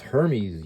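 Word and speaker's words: Hermès: about Hermes I didn't even know how to pronounce that before I moved to shangai China my girlfriend was like what no it's Hermes you dope talk about expensive the mumu I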